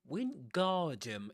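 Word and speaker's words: Wingardium: Windardum. It's windard, right? Windardum with that long R sound.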